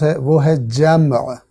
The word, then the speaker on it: جمع: تلفظ ہے وہ ہے جمع، میم ساکن ہے، لیکن اردو میں میم کو ساکن بولنے کی وجہ سے چونکہ تلفظ میں مشکل آتی ہے، اس لیے اکثر اس